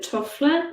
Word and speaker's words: Toffler: And I think it's Alvin Toffler. Is that how you pronounce his name?